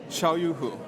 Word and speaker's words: Xiaoyu Hu: So Zihan, Jin, yes, and Xiaoyu, Hu. Yes.